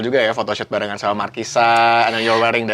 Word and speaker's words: Markisa: Tapi cara aku pronounce katanya bukan Markisa. Sepanjang lagu aku nyanyinya Makisa. Makisa. So it's actually, it's got a dual meaning. Memang buah Markisa yang menggambarkan passion. Okay. Tapi juga my kiss, Makisa.